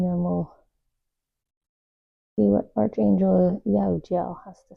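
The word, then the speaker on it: Jehudiel: Jahudiel. Jahudiel. I always struggle with their name. Silent H. Sometimes it's spelled with a G, which is still silent.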